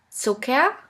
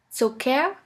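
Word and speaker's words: Zucker: here is Sika Sika which is simply pronounced like a k here we have the example of the word so care so care which means sugar the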